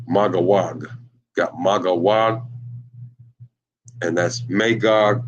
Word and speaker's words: Magog: Then, of course, you got Magog, pronounced Magawag.